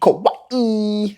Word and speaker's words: Kauai: Kauai. And you got to pronounce it right.